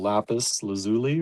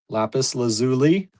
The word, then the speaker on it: lapis lazuli: Okay, I'm going to move the ielyte down and the the beautiful lapis lazuli or lazuli. We found out Maryanne did the research. It's pronounced either way. Lapis lazuli I think is here